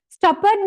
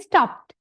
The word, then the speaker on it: stopped: Stoppered නෙමෙයි, some are pronouncing as stoppered කියලා කියන එක stoppered නෙමෙයි stopped, right? Stopped.